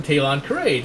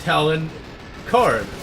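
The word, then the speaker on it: Talon Karrde: He was a very major character of the Thrawn trilogy, and I pronounced him Talon Parade because I thought, okay, it's, you know, Star Wars, you know, so they have weird sounding names because it's space, right?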